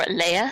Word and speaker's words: Leah: We also want to give a shout out to our newest patron, Leah Sloan, or Leia Sloan. Not sure. It can be pronounced both ways. I'll go with the British way, Leia.